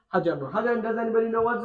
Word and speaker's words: حجر: ما ذلك ذلك هجر ذلك حجر. Okay, pronounce the ha properly. Okay, حجر.